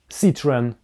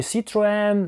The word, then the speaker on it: Citroën: Но следующий автомобиль, Citroën, — французский, и его название произносится как Citroën. Ситроен. Вам придётся это запомнить. Это не "Citro-en", это не " Citro-on", ничего подобного.